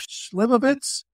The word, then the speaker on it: Slivovitz: and they had glasses and a bottle of Slivovitz.